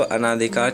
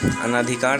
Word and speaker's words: अनधिकार: जो है त्रुटि है, अनाधिकार नहीं होता है, अनधिकार होता है। यहाँ पे आ का प्रयोग नहीं होता है, सिर्फ ओ का प्रयोग होता है।